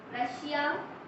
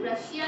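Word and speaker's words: Russia: इस कंट्री है ना, इसका प्रोनाउंसिएशन रशिया नहीं होता, इसका प्रोनाउंसिएशन होता है रशा। इंग्लिश में हम लोग रशिया नहीं रशा बोलते।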